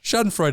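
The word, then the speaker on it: Schadenfreude: right how about this I don't know if I'm I'm saying it right Shaden Freud Shad Freud is good Shaden frea the German word for finding enjoyment in someone else's misery but from your perspective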